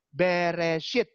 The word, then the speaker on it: Bereshit: Lalu huruf ketiganya alef, lalu huruf keempatnya itu shin, lalu yang kayak koma itu bukan koma, itu huruf. Itu yod. Lalu yang huruf terakhir adalah taf. Dibaca Bereshit.